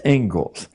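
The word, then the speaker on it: Inglis: in education is named as it is, the Engles lecture looks like English, but it's pronounced Engles.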